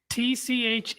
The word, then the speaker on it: Tchaikovsky: Tchaikovsky. Yeah, it's Tchaikovsky. Check, duh. Right. It's the proper Russian way of pronouncing it.